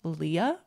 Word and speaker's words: Lia: planning on reintroducing myself next year as just Leah so short for my name Celia it's spelled c i l i a so I